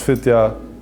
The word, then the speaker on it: Fidya: Fidya ist richtig ausgesprochen? Ja. Wallah ist Fidya.